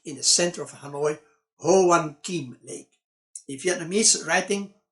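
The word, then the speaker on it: Hoàn Kiếm: the center of hanoi ho wan kim lake in vietnamese writing o juan king a four ranger trying to pronounce ho wan sees which is the wrong pronunciation vietnamese friend helping him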